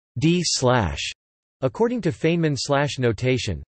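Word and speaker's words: ∂̸: partial underscore mu display style partial big is pronounced d slash.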